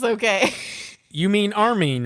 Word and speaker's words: Armin: Erwin and You mean Armin. Yeah, Armin? it's a little tough. Yeah. So You mean Erwin Armin? has Arwen. I don't know. This is how I say their names, okay? You mean Armin, right?